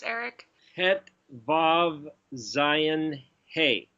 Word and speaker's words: Vav: Every time you have the O sound, you either have the letter Vav, or what somebody would pronounce as a W-A-W, Wah, or it's got a